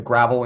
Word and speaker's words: Gravel: the gravel institute it's spelled gravel g-r-a-v-e-l the gravel institute but it's pronounced gravel go watch some of the videos